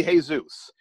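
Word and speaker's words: Jesús: his name is probably hey Zeus even if in the email that says Jesus play the averages and greet him as hey Zeus if his name is pronounced Jesus he'll tell you you can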